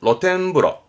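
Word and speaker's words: 露天風呂: 로텐 그럼 이것도 오르실걸요 요거요 노천 그렇습니다 노천탕이죠 발음은 로텐브러 로텐브러 원래 프로 오후로 욕조를 말했던 부분인데 노천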